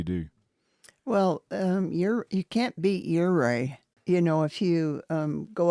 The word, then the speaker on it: Ouray: And by the way, if you ever forget how to pronounce Ouray, just say hip hip hooray.